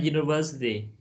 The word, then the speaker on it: university: When we have you, it's like you, it sounds a consonant. For a consonant, we don't use N. So we say a university.